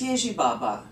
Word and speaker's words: Ježibaba: Oh, that's Ježibaba. Ježibaba. No, no. Accent on the first syllable.